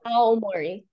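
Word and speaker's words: 青森: Yeah, Aomori.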